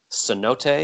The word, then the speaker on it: cenote: very nice we sang and swam in a cenote is that how you say it yeah so